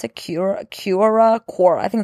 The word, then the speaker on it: Quora: Like, I'm on Quora. Is that how you pronounce it? Quora.